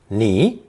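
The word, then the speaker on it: 尼: on the phonetic of a person being carried on one's back pronounced knee it has important uses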